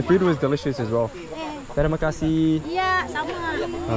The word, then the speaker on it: terima kasih: Terima kasih. So, no, I exaggerated. Yeah, just the pronunciation. The kasih. It's a kasih. Kasih. Terima kasih. More like an E.